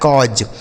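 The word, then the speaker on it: cause: एल ए यू डी तो ए और यू अगर एक साथ लिखा हो दोस्तों तो इसे हम अ के रूप में पढ़ेंगे। किसके रूप में? अ मतलब ऐसे पढ़ा जाएगा। इस तरीके से आपको उच्चारण निकालना होगा। जैसे सी से हो जाएगा क। इस ए और यू का उच्चारण अ हो जाएगा और एस ई से ज लिखा है कॉज सी ए यू एस ई कॉज कॉज इस तरीके से पढ़ा जाएंगे कॉज पी ए यू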